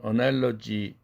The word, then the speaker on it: analogy: 그러면은 analogy 거스 할 때에는 국외음화가 아니고 그 사운드인데 거기에 이 모음이 끼니까 그것이 발음이 그가 쥐로 변했어요.